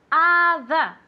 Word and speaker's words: other: every other day okay remember the pronunciation of other it's as if it were an a at the beginning not an O Okay other other okay and remember